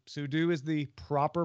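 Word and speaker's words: sudo: Robert cogs hall says it's meant for super user do you should say sue do so in this case axon ruled sue do sue do is the proper pronunciation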